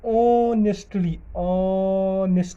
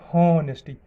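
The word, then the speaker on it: honesty: अगर आप गलत प्रोनाउंसिएशन करते हो, हॉनेस्टी तब ए हॉनेस्ट आएगा, लेकिन एन आता है ना इससे पहले, यानी हमारे पास आवाज़ आनी चाहिए ऑनेस्टी, ओ की आवाज़।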